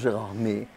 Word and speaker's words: Gérardmer: Mais nous, on prononce Gérardmer.